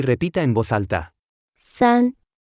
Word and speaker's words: 三: 三，三，三，三，三，三，三。 Se pronuncia con el primer tono.